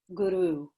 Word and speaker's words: guru: to pronounce it is if you can see it spelled out g-u-r-o-o guru so there's a a long o sound guru when you're practicing